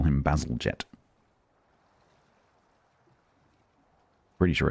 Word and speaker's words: Bazalgette: I think it's Bazalgette. In the same way that people who climb Everest call them the Himalayas. Bazalgette.